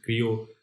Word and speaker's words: Crio: Yeah, cryo literally means create, right? So I think if you pronounce it cryo, it's Portuguese pronunciation. If you pronounce it Crio, it's a Sanskrit pronunciation, right?